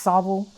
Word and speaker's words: Saltville: of sauvigle virginia and it's spelled saltville but up there everybody talks like they're eating marbles so it's sobel and it really is